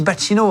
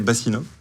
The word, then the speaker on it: Bacchino: Si vous découvrez Mathias Bacchino, on dit Bacchino, hein, c'est ça? C'est ça, ouais. Moi, j'ai repris la prononciation initiale. Mes grands-parents disaient Bassino, et moi, c'est Bacchino.